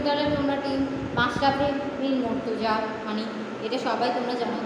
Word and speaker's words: মুর্তজা: The captain is Mashrafe বিন মুর্তজা। মুর্তজা বানানটা হচ্ছে MOR, মুর্তাজা, মানে মুর্তজাকে ইংরেজিতে এভাবেই উচ্চারণ করে, মুর্তাজা, ঠিক আছে।